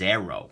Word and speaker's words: Aero: this little big guy this is the booze blades arrow and note that that's spelled AE R row rather than the slings and arrows of Outrageous Fortune not that kind of Arrow the other one um anyways let's do